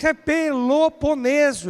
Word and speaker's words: Peloponeso: do Peloponeso ah como Peloponeso é como eu Estou pronunciando exatamente assim P